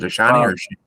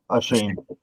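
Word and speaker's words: Achane: How do you pronounce that? Is it Ashani or Shane? Shane.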